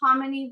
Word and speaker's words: Kamini: I'm Kamini Verma. Kamini rhymes with hominy, spelled completely different.